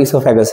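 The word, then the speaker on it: oesophagus: Next हम लोग बात करते हैं इसोफेगस, ये ओ साइलेंट है इसलिए हम लोग इसे लिखने के लिए ओइसोफेगस लिखते हैं, पर बोलते हैं हम लोग इसोफेगस है।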